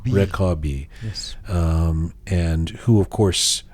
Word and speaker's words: Rekabi: Rekabi.